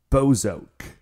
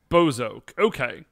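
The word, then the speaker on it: Bowzock: But apparently, if you actually like listen more closely to the show, it is pronounced Bozok. Bozok.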